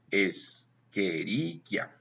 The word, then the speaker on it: Escherichia: A veces lees en español Cheochi, Escherichia, pero vas a pronunciar Keoki. Escherichia.